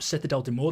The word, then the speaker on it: Citadelle des Morts: the new zombies map setad Del de Mo that's how you pronounce it apparently according to them and the release date